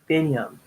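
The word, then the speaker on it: Biniyam: so long we finally needs Binyam Binyah Binyah Binyah yes that's how you pronounce his name he lives with his brother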